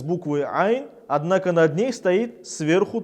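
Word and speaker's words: عين: Буква айн произносится из середины горла, является верхнефарингальной, является щелевой и звонкой. Мы сжимаем горло, через небольшую щель проходит воздух с участием голосовых связок. Эта буква является твердой, читается через А.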